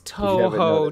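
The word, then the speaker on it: Touhou: It's Toho, dude. It's not hard. You can hear anybody else say it, and it's so obvious.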